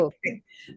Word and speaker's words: Maricaux: the host for today, and we have with us Maricaux. Please help me with your Maricaux. pronunciation. Okay, Maricaux.